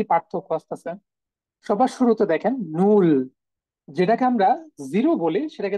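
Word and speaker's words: null: হয়ে যাবে অনেকটা ঠিক আছে তাইলে দেখেন একটু উচ্চারণ গুলোতে কি কি পার্থক্য আসতেছে সবার শুরুতে দেখেন নূল যেটাকে আমরা জিরো বলি সেটাকে তারা বলতেছে নূল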